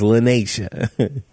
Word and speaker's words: Lanisha: So I'll say it rhymes with Krenacia, but and this is later on, right, when I tell it. But you guys already know that it's Lanisha.